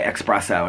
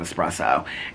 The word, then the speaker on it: espresso: the other thing is when people say espresso instead of espresso and I think it's because I back in the day I think I said it and somebody corrected me and I was like is is it espresso like this is like